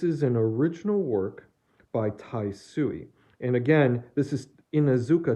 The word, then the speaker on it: Taisui: actual watercolor this is an original work by taisui and again this is inazuka taisui not ha sui the spelling's very similar as was the pronunciation but this is his last name is